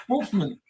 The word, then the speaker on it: Wolfman: so many different ways so how do you pronounce your last name correctly that's right Wolfman Wolfman Wolfman all right that's what I said